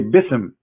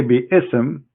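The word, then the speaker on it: بسم: say you see here you don't say be sm no more here they say bism so it's not an error scribe it's an error in a pronunciation are you getting my point because they are not saying when they recite the quran they don't say be ism and it's written wrong no they they recited bism and i will tell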